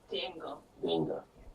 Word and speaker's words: d'Engle: Barbra, help me pronounce the second name? Denga.